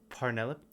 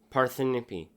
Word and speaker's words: Parthenope: There's no L. Stop adding an L in the name. How do you say this name? They said it in the trailer too. I literally can think of it. Parthenope. Parthenope. Something like that, but with an Italian accent.